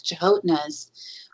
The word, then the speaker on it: Canotina: to me about the Chahotnas, which is spelled Canotina, but they pronounce it Chahotna, and they're the what they call the little people of the woodland trees.